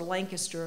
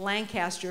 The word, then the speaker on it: Lancaster: Most of the students, I was at Ohio University's Lancaster campus, or Lancaster if you're from Ohio, in Lancaster if you're from Pennsylvania. I learned there are different iterations, pronunciations of that.